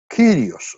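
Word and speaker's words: κύριος: un ips long entonces por eso que se pronuncia kirios okay Porque es un ips long realmente ahí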